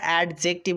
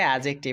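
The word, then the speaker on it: adjective: টিপ টিপ এডজেক্টিভ এডজেক্টিভ অনেকে এটা অ্যাডজেক্টিভ উচ্চারণ করে না সেটা ভুল উচ্চারণ এটা সঠিক উচ্চারণ হচ্ছে এডজেক্টিভ ওকে এবার দেখো এডি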